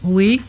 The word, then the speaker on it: ui: Le verbe vouloir qui s'écrit u I qui se dit oui comme ça. Oui ou non. Il se prononce oui. Non non pas pas pas de comparaison avec le français. C'est pas oui ou non, c'est u i vouloir.